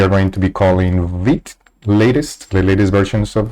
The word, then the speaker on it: Vite: are going to be using VIT but I like pronouncing it vite sounds more like that in Spanish and then here are